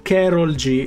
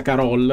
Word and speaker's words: Karol G: Allora, prima informazione, hanno droppato il trailer di Karol G. Se non si pronuncia così, mi perdonerete, non penso che sia Carol, sinceramente, però che ne so, perché sembra tipo spagnola. Io di questa tizia non